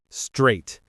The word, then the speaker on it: straight: Straight like the number eight.